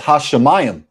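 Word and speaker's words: השמים: It's Hashemayim. Mayim. Mayim. You say ayim. Kind of like the dog food.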